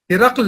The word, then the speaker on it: ہرقل: بھی لکھ دیا جائے۔ مثلا بازنطینی حکمراں ہرقل، جی ہاں ہم اسے اسی طرح پڑھتے ہیں، لیکن اس کا صحیح تلفظ ہرقل ہے۔ اسی طرح ایک عام